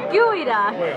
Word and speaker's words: geoduck: I think it's pronounced geoduck. It's geoduck. It's a gooey duck. Geoduck.